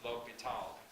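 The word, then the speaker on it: L'Hôpital: okay so this guy's name is pronounced l'hopital and i don't know what language that is okay anyway some people actually put an s before the p so it looks like hospital literally but some people don't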